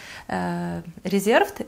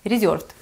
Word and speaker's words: Reserved: Она из Reserved, просто здесь говорят Reserved, и вы потом говорите, почему я так произношу, потому что это польский бренд, и здесь говорят так, ну, Reserved.